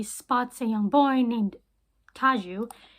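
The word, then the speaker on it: Tadzio: a young boy named taju his name is spelled tatsio but they call him taju in the film I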